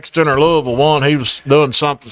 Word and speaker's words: Louisville: Louisville one he was doing something something with the